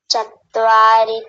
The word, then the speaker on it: चत्वारि: चत्वारी, ऐसा लग रहा है जैसे 2 त बोल रहे हो। चत्वारी, चत्वारी नहीं चतवारी, एक ही तो त है, तकार एक है तो चतवारी।